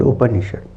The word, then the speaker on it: Upanishad: So, the meaning of the word Upanishad. Upa, the first word is Upa, the second syllable is Ni, and the last syllable is Shad. Upa, Ni, Shad.